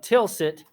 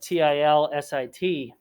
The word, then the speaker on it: Tilsit: modern germany and in fact the treaty of tilsit which is spelled t-i-l-s-i-t and the treaty of tilsit prussia and russia